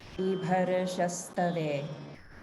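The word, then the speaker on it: बिभर्ष्यस्तवे: In this line, notice in Vibharashastave, there's a slight roll of the r before the sha, and that's due to the swarabhakti of ra or repa combined with another sound in the same syllable. So that becomes something like Vibharashastave, bharashas, bharashas.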